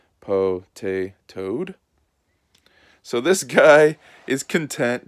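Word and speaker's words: Potatoad: And then here is the way it's supposed to be pronounced. Po-tay-toad.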